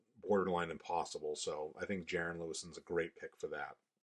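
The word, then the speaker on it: Jaren Lewison: So for this character, I thought Jiren Le uh Lewis Jiren Lewis I think is how you pronounce his name.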